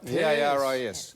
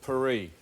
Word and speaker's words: Paris: you something Paris right p a r i s in Australia we call it Paris in France they call it perie oh really they do